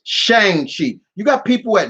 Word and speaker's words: Shang: that and it's it's shang chi you got people at nerdists and all of them saying i'm like where are you seeing a o in that name it's shang not chong it's like what the